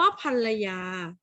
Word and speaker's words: ภรรยา: ค้า ใน ประโยค นี้ คำ ว่า ภรรยา ออก เสียง อัน หรือ ออก เสียง อ่ะ คะ อ่ะ โป้ โยเกิร์ต ต่อ คุณ ทำ ได้ ไหม อ่ะ อ่ะ ค่ะ อ้า อ่าน ออก เสียง เป็น เสียง อ่า ไม่ ใช่ เสียง อัน นะ คะ ภรรยา ถ้า